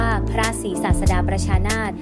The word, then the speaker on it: พระศรีศาสดาประชานาถ: ประทาน นาม ว่า พระ ศรีศาสดา ประชานาถ อ่าน ว่า พระ ศรีศาสดา ประชานาถ แปล ว่า พระ พุทธเจ้า ทรง เป็น พระ ศาสดา